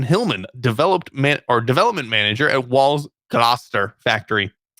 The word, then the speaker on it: Gloucester: devised by Kevin Hillman, development manager at Wall's Gloucester factory. It's not how it's spelled. It's pronounced Gloucester, but it's spelled Gloucester.